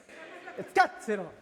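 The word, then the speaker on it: Scazzero: Escáceroero, así se pronuncia. Es italiano, ¿eh?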